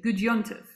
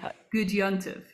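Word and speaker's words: Gut Yontif: And in Yiddish, slightly easier to pronounce, we say Gud Yontif. So let's try that. Chag Sameach. Chag Sameach. Try it. And Gud Yontif.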